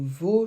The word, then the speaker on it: vos: votre chat ce sont vos chaussures on ne prononce pas le S du possessif pluriel va sauf pour faire la liaison et là on le prononce comme un Z et ici on ne